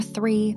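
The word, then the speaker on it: three: Number 3. 3, say it with me. 3. Listen to the beginning, th, 3. The th sound is important in English. Put your tongue between your teeth and blow air.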